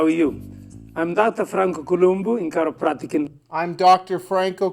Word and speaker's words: Columbu: down this video so let's see how Franco pronounces his own name Hi how are you I'm Dr Franco kumu in caroa I'm Dr Franco kumu did you